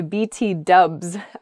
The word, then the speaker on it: BTW: This also notes that people will say BT dubs, where dubs is sort of a casual short version of W.